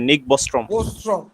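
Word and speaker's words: Nick Bostrom: এটা বলতে কি, এটাকে নিক হবে না, উচ্চারণটা কি হবে? জি স্যার, নিক বস্ট্রম।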